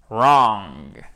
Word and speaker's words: wrong: Ça commence par le R. Wrong. Vous prononcez ce mot, même s'il a une connotation négative, comme si vous étiez en train de sourire. Wrong. OK? Pour faire cette voyelle longue.